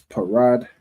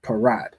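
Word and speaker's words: פרד: The pa is pronounced individually, and then the ra and da will be connected. All right, so that will make the word parad.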